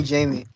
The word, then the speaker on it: Jaime: It's Jaime, but nice to meet you.